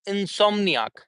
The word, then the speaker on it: insomniac: to pronunciate that one we are going to uh give stress on som. Insomniac when we say insomniac we are not going to uh give stress on anything else but som.